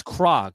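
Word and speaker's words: Krog: type these words in it's crog it's spelled k r o kog and then Street tunnel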